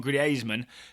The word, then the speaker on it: Griezmann: agent of antoan Griezmann or to pronounce it correctly like Ryan Bailey does agent of antoan gasman told French TV that